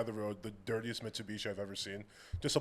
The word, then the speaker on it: Mitsubishi: What are you supposed to say? I'm just curious. No, that is how you say it. But a lot of times they pronounce stuff different. Mitsubishi, my cousin.